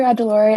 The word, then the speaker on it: Ajilore: our lab any other questions hi dr adelaurie am i pronouncing your last name correctly yes you are